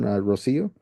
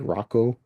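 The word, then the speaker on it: Rocío: Rosio." And she's like, "Yeah, yeah." She's like, "Good job. A lot of people say like Rocco or Rochio."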